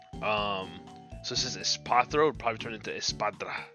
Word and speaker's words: Espathra: Espathra.